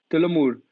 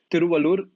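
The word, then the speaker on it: Thiruvalluvar: a like temple there and a statue of Tilamur. Wait, let me pronounce this guy's name right, because that's important. Tiruvallur statue. So then, as you reach the southernmost point of Kanyakumari, there's a statue of Tiruvallur, which like you can see, and the statue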